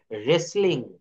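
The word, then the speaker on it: wrestling: রেসলিং এর ক্ষেত্রে আমরা এখানেও ডাব্লিউ টা বাদ দিয়ে দিব এখানে উচ্চারণটা হবে রেসলিং রেসলিং আর ই এস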